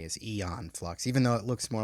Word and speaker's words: Aeon Flux: the 2005 adaptation of eon flux now i'm pronouncing it eon because that's how they pronounce it in the show in the movie so that's what i'm going to say is eon flux even though it looks